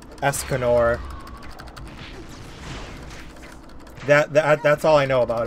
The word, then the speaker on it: Escanor: Escobar?